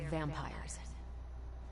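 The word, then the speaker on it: vampyres: they're vampires. I see. No, I do not. You already said they were vampires. Vampires with a Y? Pronounced exactly the same as vampires.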